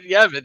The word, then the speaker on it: Yavin: Yarvin? Yarvin. Did I not say Yarvin? Did I say it right? You said it right. No, you said damn Yavin. it. You actually said Yavin.